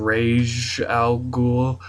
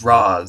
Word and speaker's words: Ra's al Ghul: I've heard it pronounced different ways depending on what I'm watching. The cartoon said Rage, and the Batman Nolan movie said Roz. So I'm going to call him Roz.